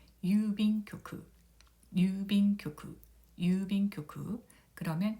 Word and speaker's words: 郵便局: 발음은 유빈교쿠가 되겠습니다. 유빈교쿠. 이 유를 보면은 우 모음이 연달아 와서 우 장음으로 발음을 하면 됩니다. 유빈교쿠, 유빈교쿠, 유빈교쿠.